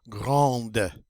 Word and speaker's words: grande: Next one up is grand in the masculine, but in the feminine we get to pronounce that D. Grande.